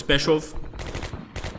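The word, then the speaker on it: Pskov: Alright, I'm going to go towards Peshov. And I believe I got that pronunciation right. I think it's P-S-K-O-V. I think the K is silent. It would be Peshov.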